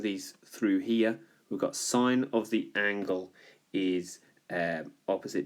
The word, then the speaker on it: sin: to well that's pronounced sine I know it says sin but it's pronounced sine the adjacent divided by